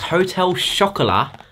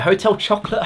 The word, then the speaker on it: Hotel Chocolat: Item numero uno is the MyProtein X Hotel Chocolat layered bars. Yes, you heard that right. Hotel chocolate, hotel chocolat, if you pronounce it properly, as in hot chocolate